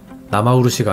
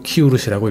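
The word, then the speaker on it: 生漆: 나마우루시가 아니고 키우루시라고 읽습니다.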